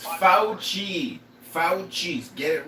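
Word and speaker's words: Fauci: And Botchi, but here's the thing is I understand it is easy for the right and the left to blame FI for it. His name is pronounced Fouchi.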